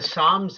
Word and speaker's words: Psalms: we open up the Psalms in the Bible we will say Psalms but they'll spell it with a p do they spell it